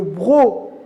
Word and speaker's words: broc: siro un autre exemple une autre console qui ne se lit pas à la fin le broc le broc c'est